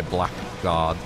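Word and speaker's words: blackguard: I shall trust you that's one of those words that I would say blackard but fled come on English like why don't they spell it BL l a g a r d like how it's phonetically meant to be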